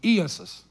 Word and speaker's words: Iesus: And it's an E, and the E and the A are long. Iesus is the way you pronounce it.